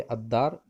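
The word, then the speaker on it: الدار: यहाँ पे इनसे पहले अगर अलिफ लाम आ जाए तो हम लाम को प्रोनाउंस नहीं करेंगे, उसके तलफ़ुज़ के अदा नहीं करेंगे, बल्कि अलिफ को डायरेक्ट हम उस इस हुर्फ से मिला लेंगे। जैसे यहाँ पे अद्दार, दार के मतलब होता है घर।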